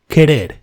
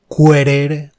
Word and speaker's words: querer: Never say querer, quebrar, quitar. Never. That U in the middle between the Q and the vowel E or I is never pronounced.